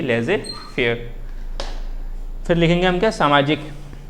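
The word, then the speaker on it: laissez-faire: लेजे फेयर इसको फ्रांस में बोलते हैं, कभी कभी ऐसा भी लिखने मिल जाता है, और इसकी प्रोनाउंसिएशन यही है लेजे फेयर।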